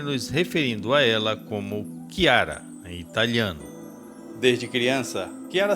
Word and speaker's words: Chiara: Seu nome, em italiano, se pronuncia como Chiara, mas ela pode também ser chamada como Clara, a tradução em português.